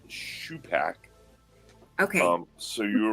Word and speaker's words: Shupak: um you had it correct earlier it is pronounced Sho Pac okay um so you right um and yeah